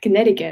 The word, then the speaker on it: Connecticut: Um, well, definitely the Connecticut accent, especially because they don't pronounce the C in the middle, and I just find it.